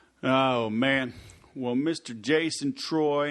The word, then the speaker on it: Treu: successful today right oh man well Mr Jason Troy it's pronounced t r make sure everybody knows that